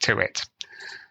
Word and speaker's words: Tuite: then her last name is spelled Tui T pronounced to it so um Amanda thank you ever so much